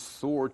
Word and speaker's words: sword: Mouse Soldier 2 points his sword toward Prince Yogurt and says, "Any last words?" 老鼠士兵二用他的剑指着优格王子，有任何遗言吗？Sword 名词，剑。这个字呢，字母 W 是不发音的。Last 是最后，last words 最后的字。那这句话呢，就最后的字什么意思呢？就是遗言。